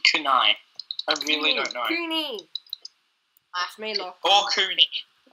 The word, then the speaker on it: kunai: Kuni! That's me, Locke. Or Kuni. That was me. Kuni. But I'm pretty sure they're pronounced Kunai.